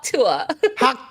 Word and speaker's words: Tuah: It's Tuah.